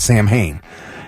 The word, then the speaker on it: Samhain: I've heard Sam Hain many times. In other movies, I've heard about Sam Hain. Guess what? What? It's pronounced Samhain.